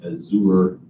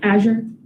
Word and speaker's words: Azure: with Microsoft is to have the Azour cloud. Azure, is that how you pronounce it? Yeah.